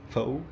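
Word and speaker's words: phở: un petit bol de faux fa ouais ça se prononce fa donc le le petit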